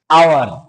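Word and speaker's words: hour: For example आवर। ठीक है? ये है एच। एच इसका साउंड क्या है? साइलेंट है।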